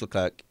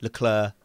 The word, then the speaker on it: Leclerc: Still, I think Charles Leclerc is. Oh, sorry, Leclerc. Whatever. I'm British. I'm from Essex. Let me off. I just say the words. Whatever. I just say everything phonetically.